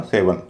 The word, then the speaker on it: seven: लेकिन बाद वाला जो हिस्सा है इ एन इसको हल्का बोला जाएगा।